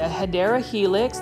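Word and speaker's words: Hedera helix: another HRA helix or what you call it hadera Helix that's the correct way to say English ivy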